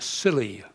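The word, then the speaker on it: Scilly: now i'm sure you've heard of the silly isles they're just off the southwest corner of england the name is spelt s-c-i-l-y but it hasn't always been spelt that way it used to be spelled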